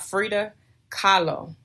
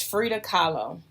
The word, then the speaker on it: Frida Kahlo: of there's an artist her name was I Frida Kahlo and I could be saying her name wrong but I believe it's Frida Kahlo and I believe she spells her last name